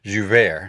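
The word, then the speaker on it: Joubert: at some quotes here's joseph zuvay i just love the french juve i just love the way you get to pronounce french name he was a french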